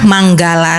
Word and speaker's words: Mangala: Sukihotu Bante, saya mau tanya, kalau Manggala Sutta itu kan penulisannya Mangala Sutta kan Bante, tapi dibacanya itu kan Manggala kan Bante.